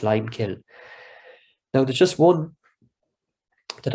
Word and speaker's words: lime kiln: that feels called the lime kill it's usually pronounced lime kill now there's just one